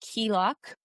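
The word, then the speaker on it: Cailleach: But um the next one is pronounced Keelok, and she is an ancient hag goddess of Yes.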